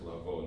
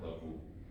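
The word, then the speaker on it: לבוא: this is pronounced lavo, not lavu.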